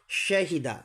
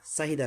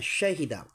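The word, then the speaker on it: شاهدة: শাহিদা, সাহিদা না, শাহিদা। বাখিলা, বাজার বা খজির খিলাম জবাল্লা, বাখিলা।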